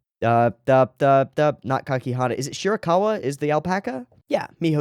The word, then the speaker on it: Shirakawa: Is it Shirakawa? Is the alpaca? Yeah, Miho Shirakawa.